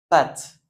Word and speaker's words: pâte: Cûé, pâte, d'accord ? Pâte. Vous voyez le a, on le prononce comme un a normal, d'accord ?